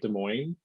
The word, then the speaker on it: Des Moines: in okay i'm going to say it right des moines yes uh-huh okay i was like the asses